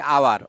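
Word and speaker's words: hour: এই যে এইচ, আওয়ার, এইচ আছে ঠিকই, কিন্তু উচ্চারণটা দেখো হাওয়ার বলি না, আমরা বলছি আওয়ার, অর্থাৎ ও থেকে হচ্ছে, ভাওয়েল থেকে, যে কারণে আমাদের এন হবে।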